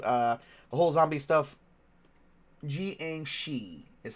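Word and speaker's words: jiangshi: how the zombie uh the whole zombie stuff gang she is how you pronounce the giang she oh okay let me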